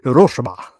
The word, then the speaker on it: Hiroshima: to the people of Hiroshima I wish I could say it like a Japanese person, like Hiroshima. But I sound like I'm sneezing, so I won't say it like that.